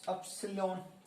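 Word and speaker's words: upsilon: इसकी प्रोनाउंसिएशन होती है अपसिलोन।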